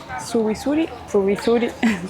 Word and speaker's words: Zubizuri: Es el puente Zubizuri, si tuviera que pronunciarlo como corresponde.